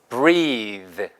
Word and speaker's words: breathe: breath에다가 이만 붙이잖아요. 그러면 발음이 바뀌어요. 그래서 이게 중상급 단어인데 숨쉬다 동사가 돼요. 그러니까 이가 붙어서 동사가 되는 특이한 영어에 몇 개 없는 단어예요. 보세요. 시작. breathe. breathe. 그러니까 발음이 bread가 아니고 breathe 발음으로 바뀌어요.